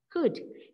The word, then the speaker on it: could: Could. Can you do it? Yes. I could do it. Can, could. I could do it. Okay. Fly, flew. Shake, shook. Can, could. C-O-U-L-D. L is silent, okay? C-O-U-L-D, could.